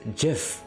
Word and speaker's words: GIF: both me and Michael we pronounce it as Jif which I think is a minority so yeah just letting